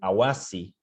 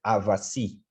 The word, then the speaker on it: avasi: A mesma coisa para formas como Awasi, para milho, que é Avasi, no Wayampi do Amapari.